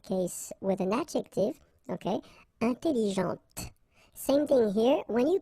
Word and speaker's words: intelligente: with an adjective, okay, intelligente. Same thing here. When you put this well, actually you will pronounce the final T, okay, but you don't pronounce this here.